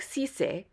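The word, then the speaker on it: Cissé: for a name like sise remember that the I has a long e sound also although the there's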